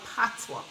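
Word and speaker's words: patois: the dialogue is jamaican what we call patwa right p a t o i s which happens to be a french word and so sometimes we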